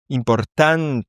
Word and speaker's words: importante: Importante et à la fin T. Donc ça se prononce bien à la fin, c'est bien importante.